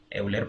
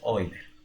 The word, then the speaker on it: Euler: Como fuera en español, pero este señor es suizo y se pronuncia Euler, ¿cierto?